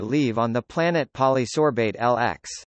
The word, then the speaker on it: LX: on the planet Polysorbate LX. LX. Pronounced 60. After the preservative.